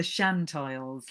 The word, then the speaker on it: Shiants: are called the science one definite softened syllable the chantils like a sea shanty but with the y trimmed away the rest of the